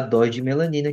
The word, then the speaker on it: Dose D Melanina: Então lembrando que o D é mudo também.